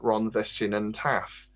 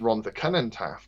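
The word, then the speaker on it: Rhondda Cynon Taf: who was English, and he once said we have to send a lot of stuff to Ron the Sinan Taff, and it's Ron the Cunnan Taff, but obviously because he's English, he read it as Sinan, which you can totally understand if you look at it from an English point of view.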